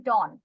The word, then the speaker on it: dawn: Last word is dawn. Down, sunrise. এটার pronunciation হবে dawn.